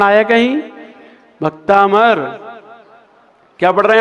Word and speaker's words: भक्तामर: भक्तामर। बिंदी का उच्चारण आया कहीं? भक्तामर। क्या पढ़ रहे हैं आप लोग? हाँ, ये 95% गलत बोलते हैं लोग, पहला ही अक्षर।